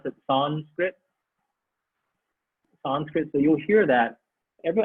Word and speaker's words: Sanskrit: right okay okay so sanskrit the word is um s i'm going to type this out s-a-n-s-k-r-i-t can i spell that right nope s-a-n-f-k-r-i-t sanskrit some people say son spit i typed it wrong